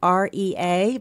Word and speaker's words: Rea: So the name of the CD is Southbound, Bob Rea, and if you look him up, you spell it R-E-A, but you say it R-A-Y, Bob Rea.